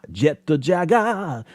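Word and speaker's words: ジェットジャガー: Jetto, because you can't end a word with a consonant in Japanese, if you did not know that. So jetto, and then jaga, which is the closest way that they can equate to. They don't have a way to go jaguar and make it all one quick thing. So it's jaga, jetto jaga, jetto jaga.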